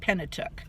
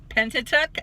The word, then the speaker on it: Pentateuch: page and she tries to say the word tentative and I said she was mispronouncing it nice and Pentateuch and she says yeah what's that and I